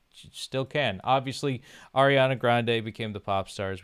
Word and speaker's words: Grande: Then you know what would then become Ariana Grande later on. So then after victorious and I Carly simultaneously ended also it's not Ariana Grand is how her name is actually pronounced and nobody and she never corrected anybody.